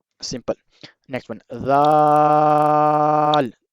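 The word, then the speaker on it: دال: Some people pronounce it zal with visual sound wrong. We have to pronounce it without visual sound like dal. Same place to pronounce it. Dal. Tip of the tongue touch your inner edge of the top to upper teeth.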